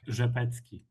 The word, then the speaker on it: Rzepecki: Rzepetsky. So, RZ in Polish is pronounced "rzh".